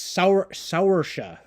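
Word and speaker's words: Saoirse: Yeah, it's Saursha. So it's kind of I almost said Russian, right? An Irish name, dude.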